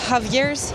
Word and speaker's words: Javier's: Ça s'appelle Javier's. C'est s'écrit avec un J mais ça se prononce A.